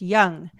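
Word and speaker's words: Yonge: it's ridiculous Sonia B the Toronto street is pronounced young the building looks decrepit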